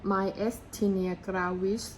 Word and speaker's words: Myasthenia: อ่อน แรง ประเภท mg ค่ะ หรือ ว่า เป็น mystinia ซึ่ง สะกด เป็น ภาษา อังกฤษ ว่า m a y